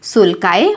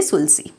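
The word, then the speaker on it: sulci: इसे हम कहते हैं सुल्काए और यू कैन से सुलसी. आप कैसे भी इसे प्रोनाउंस कर सकते हो.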